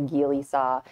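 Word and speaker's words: Gigli saw: I believe it's pronounced a Geely saw.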